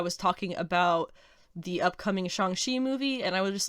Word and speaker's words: Shang-Chi: Several episodes ago, I was talking about the upcoming Shang-Chi movie, and I would just like to make the note that I know everybody says Shang-Chi, that's what we all know.